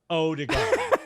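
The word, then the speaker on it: Ødegaard: he goes he goes hi my name is martin odegaard but you can pronounce me martin odigo he said it was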